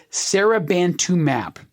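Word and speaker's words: seribantumab: And this is going to sound like a mouthful, but this is the name of the drug, Serabantumab. And I'm emphasizing that last syllable, mab, because M-A-B, when you see it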